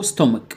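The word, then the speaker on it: stomach: معده يعني ستومك، الاس مع التي ستا شورت او ستومك، والسي اتش بنطقها كي. ليه كي؟ لان دي كلمه جايه من امريكا اللاتينيه، ستومك ستومك ستومك.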